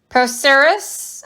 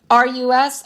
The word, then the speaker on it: procerus: Procerus, I believe is how it's said. Procerus.